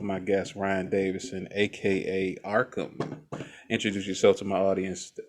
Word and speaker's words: RKHAM: I have heard so many different ways of pronouncing this name. Mhm. It's been botched in its spelling so many times. I've heard Arkum, I've heard Ham like a deli shop, Rkham like Wreck It Ralph.